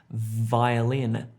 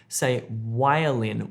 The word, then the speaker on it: violin: A lot of, most of you, I would say violin, violin, and you're making the sound with your lips. It's not a lip sound, it's teeth and lips together, teeth and lips together.